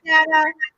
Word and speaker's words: Dana: So she, gave a way to remember Dana Banana so that you would say her name right.